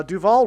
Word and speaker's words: Duval: Uh Duval rhymes with Hall.